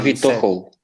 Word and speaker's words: Avitohol: I believe because in Bulgarian language we pronounce what is written.